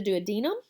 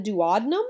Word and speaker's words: duodenum: The first subdivision is the duodenum, also called the duodenum. I've heard it pronounced different ways.